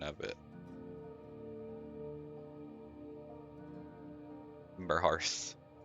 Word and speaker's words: Hearth: Timber Hearth. Hearth makes sense to me because it's like Earth with an H.